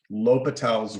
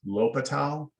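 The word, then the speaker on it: L'Hôpital: talk about what's called l'hopital's rule now the way it's spelled it looks like the hospitals or something like that but it's it's pronounced l'hopital l'hopital yeah i've heard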